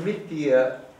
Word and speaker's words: mithyā: false knowledge you see the word nithya actually is a long a at the end oh right two ways